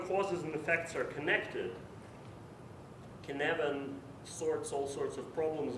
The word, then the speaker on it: Cynefin: All right, it's a Welsh word, so it's challenging. So this framework is pronounced Cynefin, which is, doesn't really matter how it translates from Welsh.